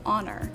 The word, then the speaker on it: honor: Conversely, you don't pronounce the H when you say honor, so you would say an honor or an hour.